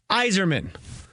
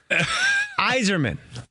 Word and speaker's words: Yzerman: her neck and she goes Yzerman Yzerman the why is silent that she had her hands up like Yzerman and i'm like oh